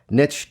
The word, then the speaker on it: niche: As hypnotists, people often get really hung up in this whole concept of a niche or a niche or a specialty. And yes, niche does rhyme with rich.